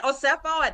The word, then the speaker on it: Osefo: Uh, Wendy Oo, that's how you pronounce her name.